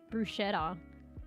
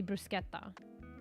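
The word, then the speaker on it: bruschetta: would pronounce it and it has like what is it s c in it I thought it was like Bretta mate brushetta brushetta but it's like more like probably brusketta or some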